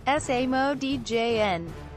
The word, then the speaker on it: Asamoah: In the following season, Asamoah Gyan, pronounced ə-sah-MOH-ah, ə-sah-MOH-ah, born the 22nd of